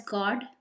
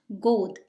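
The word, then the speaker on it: गोद: Here, on reading God, you might want to read it as God, but it is actually in Hindi, it's pronounced God. Think of it as Go, go, and D represents the. So it is God, which means lap.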